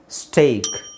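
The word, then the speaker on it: steak: ದೀರ್ಘ A great ಬ್ರೇಕ್ ಸ್ಟೇಕ್ ಸೋ ಇದರ ಉಚ್ಚಾರಣೆ ಎ ಅಂದ್ರೆ ಎ ಐ ಬಂದಾಗ ಏನು ಬರುತ್ತೆ ಎ ಐ ಎ ಐ ಬಂದಾಗ ಏನು ಸೌಂಡ್ ಬರುತ್ತೆ ಅದೇ ಸೌಂಡ್ ಬರುತ್ತೆ ಎ ಸ್ಟೇಕ್ ಬ್ರೇಕ್ great so ಈ ಮೂರು ಪದ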